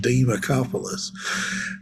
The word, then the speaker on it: Demacopoulos: friend of mine George Demacopoulos. That's how you have to pronounce it by the way because because he's from the deep south. It's George Demacopoulos.